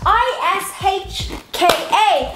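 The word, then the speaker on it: uisce: I-S-H-K-A. Ishka! That's like a how to pronounce an Irish word.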